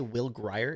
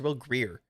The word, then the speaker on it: Grier: Did you guys say Will Grier? It's Will Greer.